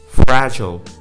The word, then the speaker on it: fragile: Words ending with ILE, there is no pronunciation of I, like mobile. It's not mobile, it's mobile, mobile, okay? Fragile becomes fragile.